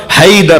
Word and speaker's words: حیدر: حیا درہ حیدر حیدر حیدر حیدر صحیح تلفظ ہوگا حیدر ہوگا, وہ حی سے حیا سے حیدر. عرب جب بولتا ہے نا وہ حیدر نہیں بولتا ہماری طرح, وہ کہتا ہے حیدر.